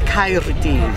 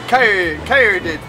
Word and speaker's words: Caerdydd: We roll the R's, so it's Caerdydd. Yes, so Caerdydd. Caerdydd.